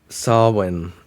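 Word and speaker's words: Samhain: Sawin is how you pronounce that.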